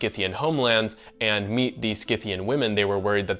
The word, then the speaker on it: Scythian: But the reason I say Scythian is because I think it's closer to the original pronunciation.